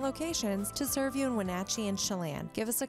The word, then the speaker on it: Wenatchee: Make sure they pronounce the name of our town correctly. It's Wenatchee, not Wenatchee.